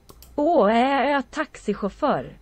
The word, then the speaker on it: taxichaufför: How do you pronounce that? Taxichaufför.